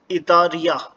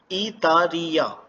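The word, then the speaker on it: イタリア: Italy, Italy को इतारिया बोला जाएगा, इतारिया।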